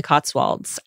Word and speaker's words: Cotswolds: your life as an artisan thatcher in the Cotswolds. Did I pronounce that correctly?